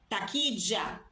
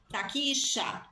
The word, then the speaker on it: taquilla: Taquilha, taquilla, taquicha, depende aí do país também, uma pronúncia diferente para essa letra, 2 L's.